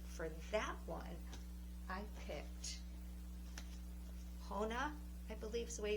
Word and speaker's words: Chona: And so for that one, I picked Chona, I believe is the way you pronounce it, c h o n a, Chona, from The Heaven and Earth Grocery Store by James McBride.